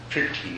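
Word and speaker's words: prīti: Priti is the way it's pronounced in Sanskrit.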